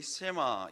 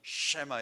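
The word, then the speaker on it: שמע: 아멘 오늘 설교 제목이 세마 이스라엘입니다 이게 발음이 쉐마 이렇게 해야 되는데 너무 히브리 원어로 읽으면 여러분들도 듣기 거북하고 저도 사실은 어 그대로 할 수가 없어서 쉐마 이스라엘 아주 유명한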